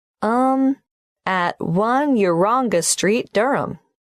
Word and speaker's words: Durham: how do you spell Durham d r h a m of course I should know that but it's just one of those names that sounds quite different from the way you spell it it is confusing I've